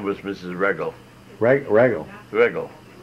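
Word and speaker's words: Wreggel: I should know Regel is spelled W-R-E-G-G-E-L. What's that again? W-R-E. W-R-E, oh, Regel. Sure. Who knew W? That would be Regel.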